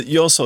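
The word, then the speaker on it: 余所: The yoso is not the normal pronunciation. Yoso means like to another place.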